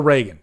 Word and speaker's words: Regan: end of the movie is it Regan or Reagan damn it I always get when I I say it wrong and then I forget what I say so yeah um so the I think the the one thing that David Gordon green has going for him Reagan thank you very much so I